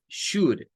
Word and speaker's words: should: Miren, la pronunciación de esta lleva un diptongo OU que suena como una U corta. Should. No es shoul, no es OU. No se menciona el OU. Es should.